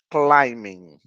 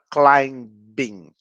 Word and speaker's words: climbing: Uma outra coisa é que esse B daqui, ele não é pronunciado. Então, a gente não fala climbing, a gente fala climbing.